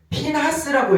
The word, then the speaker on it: 피나스: 네, 그래서 핀하스를 하나하나 파자해 보면요, 핀이라는 것은 피나스라고 읽어요. 피느하스를 피나스라고 히브리어도 읽거든요.